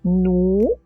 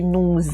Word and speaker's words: nous: Nous, à la fin de nous, il y a une lettre muette. Donc, je vais la faire sonner, hein, parce que dans le verbe, juste à sa droite, il commence par une voyelle. Donc, une lettre muette qu'on sonne avec une voyelle, ça fait sonner la consonne. Nous allons, ça fait nous allons.